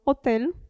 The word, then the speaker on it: hotel: H, ad esempio, hotel. La H in italiano non si pronuncia, vedremo in seguito.